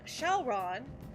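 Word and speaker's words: Syaoran: And his name, Shalron, is basically the Japanese pronunciation of the Chinese name Xiaolang.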